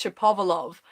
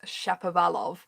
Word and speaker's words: Shapovalov: Denis Shapovalov, I'm gonna do it the way I say his name, okay? Denis Shapovalov, which is apparently the correct way. A lot of people are going with Shapovalov. I guess it depends whether you're American.